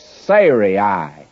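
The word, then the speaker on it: Sarai: her name sah and I have actually been pronouncing it incorrectly all through here and I'm not about to change it it's Siri would be the correct pronunciation before Siri well if I'd started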